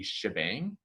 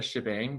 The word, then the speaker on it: shebang: line is called the shebang it's called the shebang because the hashtag is where the sh comes from and the exclamation point is often pronounced bang so bang shebang for this right here